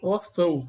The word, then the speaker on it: Órfão: Órfão, um O que representa a letra U foneticamente. Órfão, você pronuncia como se fosse U. Por isso é semivogal, U falado.